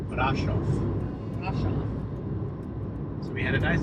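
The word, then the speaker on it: Bran: on our way to brof I keep saying it wrong off brof brof so we had a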